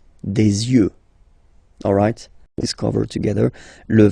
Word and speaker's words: yeux: And then the last one, this is probably the most strange one, un œil, des yeux, okay, don't pronounce the final X as usual, des yeux, alright.